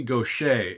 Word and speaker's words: Gauthier: Her name is Mary Gaucher, and it's spelled, I think she's from Louisiana, probably Cajun country. It's Gauthier. Somehow that spells Gaucher.